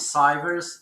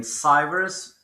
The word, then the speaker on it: Cyvers: Another one is Cyvers.